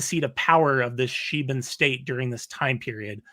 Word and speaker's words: Sheban: It's a sheban, that's how you say it, like the sheba empire, a sheban temple in Yemen.